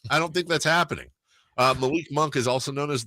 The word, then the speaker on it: Malik: Malik Monk. This is basketball. Malik Monk is okay. I don't know what to do with. Oh, okay. Because it's spelled L-I-K. I was like, lick. Assuming that's leak.